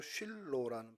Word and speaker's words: 실로: 실로는 히브리 말로도 쉴로라는 발음 그대로입니다.